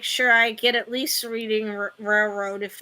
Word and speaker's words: Reading: to Monopoly is op the correct way to pronounce the name of the roadroad is reading as in Reading Pennsylvania that's from Hasbro oh